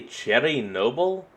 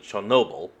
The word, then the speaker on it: Chernobyl: Did he say Cherry Noble? Huh. And I'm not saying that's wrong or anything. I'm saying that's just the first I've ever heard anyone ever pronounce like that. Because, everyone has always pronounced it Chernobyl.